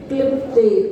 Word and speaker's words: क्लिप्ते: श्री पीठ क्लिप्ते, क्लिप्ते अगर बोलेंगे ना तो का पूरा हो जाता है क्लिप्ते, इसलिए क्लिप्ते ऐसा बोलना पड़ेगा। क्लिप्ते क्लिप्ते में का पूरा होता है, इसलिए उसका उच्चारण आधा।